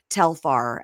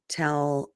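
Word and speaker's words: Telfar: I'm going to make sure I'm saying it right. It's um Telar.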